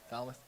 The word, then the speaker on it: Falmouth: 323-8-7 great run from the lads from Falmouth Falmouth how do you say it Falmouth yeah Bonnie Eagle 35 34 Attleboro 325 54